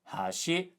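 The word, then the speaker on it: 橋: There are cases where different pitch patterns have different meanings, like hashi, high low, chopsticks, and hashi, low high, bridge.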